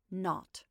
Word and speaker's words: 0: were supposed to call the zero in the telephone number he pronounced not the number was to